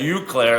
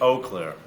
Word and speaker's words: Eau Claire: that's what I say no I say you Claire and then he corrected me I think it's Eau Claire anyway um but they've